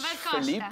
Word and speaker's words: Filipe: Yeah, Filipe. Almost like there's no E in the middle. Yeah. Like Filipe. Kind of like closer to French Filipe than Spanish Filipe.